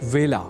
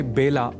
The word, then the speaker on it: वेला: अतः ए अक्षर से जुड़े वेला इस शब्द के उच्चारण में भी विशेष ध्यान रखा जाना चाहिए। अर्थात इसे बेला नहीं बोला जाना चाहिए।